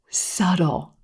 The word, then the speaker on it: subtle: six subtle subtle yes the b in this word is totally silent and a lot of times even native speakers put this sound in there and say subtle you don't need it subtle subtle if something